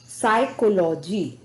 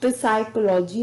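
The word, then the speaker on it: psychology: को साइलेंट रखते हैं जैसे साइकोलॉजी हम प साइकोलॉजी नहीं कहते साइकोलॉजी पी एस वा सी एओ ए ओ जीी वा तो इसमें भी पी साइलेंट है द नेक्स्ट लेटर इज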